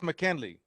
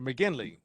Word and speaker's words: McGinley: Mandy Von C and Chris McKinley, or McGinley. McGinley, hard G.